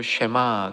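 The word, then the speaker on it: שמע: 그래서 여기 들으라라는 말을 이제 그 히브리어로 쉐마 그러죠. 그래서 이거를 쉐마라 이렇게 얘기하는 겁니다. 한번 여러분 발음으로 한번 따라해 보시기 바랍니다.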